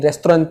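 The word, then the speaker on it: restaurant: किया है, आप कहीं रेस्टोरेंट में बैठे हैं, रेस्टोरेंट या रेस्टोरों भी बोल सकते हैं, ये दोनों प्रोनाउंसिएशन ही बहुत बढ़िया है।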